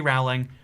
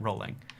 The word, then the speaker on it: Rowling: My name is pronounced J.K. Rowling. I don't know why Americans insist on calling it Rowling, and and it's so funny to me.